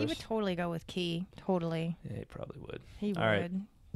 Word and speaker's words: quay: thing and you'll see the first one is key but then the second one is k w long a quay so but all the it's an alternate pronunciation okay but it's not the main one so i still win